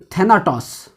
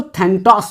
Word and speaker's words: Thanatos: जिसको कहा जाता है थैनाटॉस। कुछ लोग इसको थैंटॉस भी कहते हैं, थैनाटॉस या थैंटॉस, आप जिस तरह से आप इसका प्रोनाउंसिएशन कर पाए।